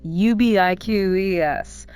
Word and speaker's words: ubiquitous: Stress the second syllable. Ubiquitous. Final no use is reduced to ice.